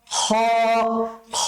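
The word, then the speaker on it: خ: হা তারপরের হরফটা হচ্ছে খ টা উচ্চারণ করার জন্য আপনার সেই কণ্ঠনালীতেই ব্যবহার করতে হবে তবে কণ্ঠনালীর শেষাংশের দিকে যেতে হবে কণ্ঠনালীর শেষের অংশ থেকে আপনি উচ্চারণ করবেন হ উচ্চারণটা যত ভেতর থেকে নিয়ে আসতে পারেন আপনি আপনার এই খ উচ্চারণটা যত ভেতর থেকে কন্ঠনালীর যত গভীর থেকে আপনি উঠিয়ে নিয়ে আসতে পারেন প্রথমটা হা তারপরেরটা খা খা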